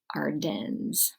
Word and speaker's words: Ardennes: the Ardennes region and Ardennes is spelled AR de and n es Ardennes okay and this would be